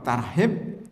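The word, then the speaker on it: ترحيب: langsung diterjemahkan aja ya kalau tarhib ah itu bacanya salah bisa salah makna jadi kalau pakai ha itu artinya menakut-nakutin kalau pakai ha artinya menyambut kan beda Pak satu lagi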